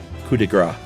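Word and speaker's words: coup de grâce: Uh, the Arctic Fox episode was the latest and Josh said the phrase kudigra. Uh, where he correctly left the p silent but incorrectly said fat.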